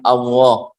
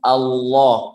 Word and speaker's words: Allah: Mereka mengatakan Allah. Nah, bukan, tapi jadi kalau mau ya itu Allah kemudian ditebalkan Allah kalau mau ngajarin orang. Jadi Allah kemudian ditebalkan Allah. Nah, itu cara bacanya seperti itu. Ketika jatuh di awal pembicaraan, di awal kalam, maka dibaca tafkhim.